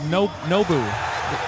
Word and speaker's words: Nou: It's nou. Yeah. Yeah. Yeah. Maybe one. It's funny, bro. It's like the restaurant.